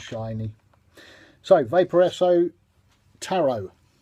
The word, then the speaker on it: Tarot: so vapor a so taro ta our OT silent e taro to under what temperature